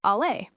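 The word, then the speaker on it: aller: Western Syriac pronounces the verb to go as āleh, and it's the same pronunciation as the French verb, āleh.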